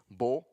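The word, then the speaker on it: בוא: The Hebrew text, or the Hebrew pronunciation for came is bo.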